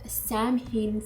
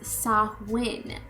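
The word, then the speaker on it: Samhain: an Apple so the fruit became synomous with Sam H celebrations of the Harvest I got to learn how to say that word okay so it's actually pronounced sahn a s a-w i n so now I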